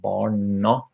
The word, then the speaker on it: barna: So barna, there's an a at the end. So this is pronounced as a in dark in English, whereas the barna, like the et, the t is not pronounced, of course.